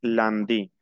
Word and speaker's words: lundi: Les jours de la semaine sont lundi, ça se prononce nasal en, je prononce lundi.